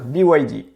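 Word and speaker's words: BYD: action chinoise la société bide alors le nom fait un peu bizarre en français donc je te propose de plutôt le prononcer à l'anglaise bewide la société conçoit et fabrique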